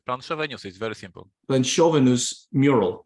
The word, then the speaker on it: Planszowe: I can't pronounce. They say Planszowe news is very simple. Planchovenus mural, right?